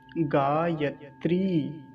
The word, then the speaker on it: गायत्री: गायत्री, बड़ी की मात्रा है, दीर्घ ईकार है, तो क्या हुआ, गायत्री।